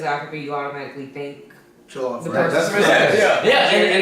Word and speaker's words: Jollof: Joff Rice. What? I'm just saying it wrong. Jollof rice.